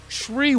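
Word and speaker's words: Shyriiwook: says most padawans want to want to learn shiuk Shew Shri there I finally said it right Shri the language of the wookies most padawans of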